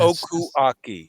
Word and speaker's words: Okuaki: How do you say your Japanese in Okuaki? Yes. Okuaki. Such a fluidity to that. K in the beginning, K in the end.